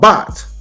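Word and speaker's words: בת: The daughter is called bot. Rhymes with hot or yacht.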